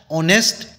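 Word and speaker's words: honest: 45 ही is dash ऑनेस्ट official अब मैंने जब ऑनेस्ट को पढ़ा एच साइलेंट है एच जब भी साइलेंट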